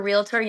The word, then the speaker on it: Realtor: agent, but if you're a realtor, they was like realtor. I hate when they say it. It's Realtor. realtor. It's just realtor. It's not realtor. It's not real. It's not three syllables.